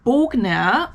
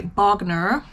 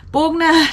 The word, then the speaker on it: Bogner: video here um this bogner or as americans would say bagner which is not how you pronounce it but that's fine bogna turtleneck sweater it was